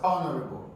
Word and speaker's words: honorable: Honorable in honorable here H is completely silent there is no consonant he in this word pronoun as honorable H is silent remember